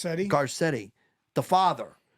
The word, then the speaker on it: Garcetti: I'll say Garcetti, this. right? Is it how do you pronounce Garcetti? it? Garcetti.